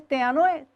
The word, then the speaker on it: tênue: A palavra tênue, sílaba tônica de tênue, T.